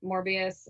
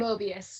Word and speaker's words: Mobius: get his name wrong morbius and then the mobius they're mobius thank you mobius i always get it wrong i like switch everything around morbius is the vampire that's that's why i